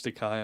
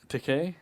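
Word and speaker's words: Takei: the uh famed outed teay yeah what he he makes the only reason I know that is because when he was on the Celebrity Apprentice he's like T like gay rhymes with gay he is the he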